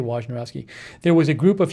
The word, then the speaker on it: Wojnarowski: Here, Adrian Wojnarowski says, I don't know if I pronounce his name right. I say Wojnarowski.